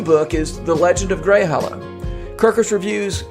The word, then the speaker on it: Greyhallow: Did I pronounce that right? Greyhollow? Greyhollow.